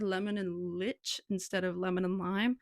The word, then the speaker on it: lich: So people are saying he's saying leech, but it's not pronounced leech, it's pronounced lich.